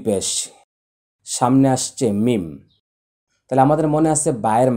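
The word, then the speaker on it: ميم: আর মিম হচ্ছে তার বিপরীত, 2 ঠোঁটের শুকনো জায়গা থেকে, মিম মিম।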